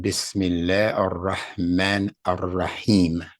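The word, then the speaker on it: بسم الله الرحمن الرحيم: If you don't separate it, then it becomes ir-Rahman. If you separate it, then you have to pronounce the whole sound of that letter.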